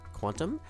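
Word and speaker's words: qntm: I recently was informed it's probably pronounced quantum.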